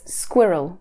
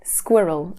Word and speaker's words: squirrel: How do we say it? It's squirrel. Squirrel. And that people with Chinese as a mother tongue, that might be a really difficult one because often get confused. So squirrel. Squirrel. Two syllables there.